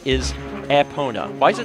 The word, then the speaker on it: Epona: closest thing with we have to an official pronunciation is aona why is it not dead there you go